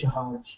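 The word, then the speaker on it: जहाज: Uh, in basically, if my understanding is correct, in Spanish it can be pronounced as her, but in Hindi it's j, right? J, jahaj. And maybe in Spanish also, in some occasions, like it will pronounced as her, not all the time. So it's jahaj.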